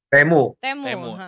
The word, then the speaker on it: Temu: Jadi isu bahwa Temu ya, Temu ya berarti ngomongnya pronounce-nya Temu ya, Kang ya? Temu.